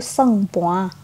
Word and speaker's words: sempoa: Nah, yang pertama itu ada abacus atau bahasa Hokkiennya itu tulisannya sempoa, tapi kalau biasa dibacanya itu sengpoa. Tulisannya doang sempoa.